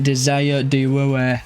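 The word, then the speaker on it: Désiré Doué: Desa Dwei, that's how you pronounce his name.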